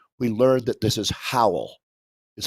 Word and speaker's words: Howell: you know it yeah so how old davies like towel yeah exactly nice job there he